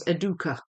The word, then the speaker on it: Educa: It it's apparently it's if you say it in the Spanish way, it's Aduka. I mean, I suppose it is a Spanish company, so I suppose I suppose um that ought to be the way I say it, but I'm not Spanish.